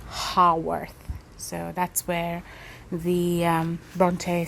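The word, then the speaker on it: Haworth: me understand this that when I pronounced holworth that was actually not correct it's supposed to be hearth so that's where the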